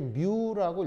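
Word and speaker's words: μ: 영어가 아니고요 그리스어 알파벳인데 읽을 때 뮤라고 읽으시면 됩니다 그래서 앞으로 전원 표현들이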